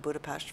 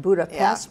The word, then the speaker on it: Budapest: the Jewish neighborhood of Budapest for many many years I noticed you pronounced not Budapest but Budapest I know my American